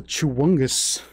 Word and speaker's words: Chewungus: Oh, the chewungus. The chewu. Chewungus. That's how you pronounce it.